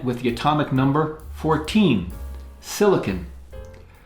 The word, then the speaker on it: silicon: Silicon. Not to be confused with silicone, which is a plastic resin that's not the same thing. Silicon is different than silicone.